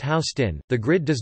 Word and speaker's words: Houston Street: Although the grid does start with First Street, just north of Houston Street, the southernmost street divided in west and east portions, pronounced Houston, the grid does not fully take hold until